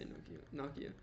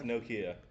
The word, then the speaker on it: Nokia: I don't know why I say Nokia. How do you? It's Nokia. Nokia. Yeah, he made that music video for Nokia. Nokia. I keep wanting to say it like gnocchi.